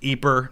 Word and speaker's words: Ypres: It's pronounced Ypres in Belgium. It's in the Dutch-speaking, the Flemish part of Belgium, so you might often hear it pronounced Ypres or Ypres, but Y-P-R-E-S is the French spelling.